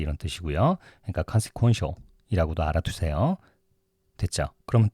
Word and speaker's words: consequential: consequential 이라고 얘기해요. quo라고 발음하세요. consequential 이렇게 얘기해요.